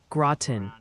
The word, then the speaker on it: Groton: The Pronunciation Council has decreed it's Interlaken and Groton for those spots in New York.